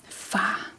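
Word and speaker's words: far: So whenever the R is placed at the end of the word, it usually comes after a vowel and it gives the very soft throat sound.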